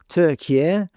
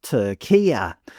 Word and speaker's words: Türkiye: Depending on how woke the media organisation you watched was, the commentators switched between calling the country Turkey, Türkiye, and a meticulously pronounced Tur-KEE-ah.